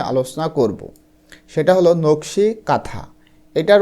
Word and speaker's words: কাঁথা: এন টা আসে এবং এই এন এর উচ্চারণ কিন্তু হয় না এজন্য দেখো কাথা এখানে